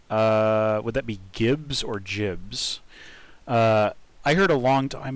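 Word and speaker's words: gibs: Would that be Gibbs or Jibs? I heard a long time ago. Yeah, jib is in giblet, and I heard a long time ago that John Carmack pronounced it jibs, and considered the matter settled.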